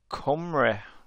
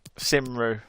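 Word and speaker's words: Cymru: hey exactly chris exactly it's pronounced comrade it's just the way it's the way it's spelled you'd think simro yeah come come come reunited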